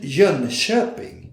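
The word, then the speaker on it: Jönköping: hide sequel company edition jean shepping that's the way you should pronounce john chopin which i heard before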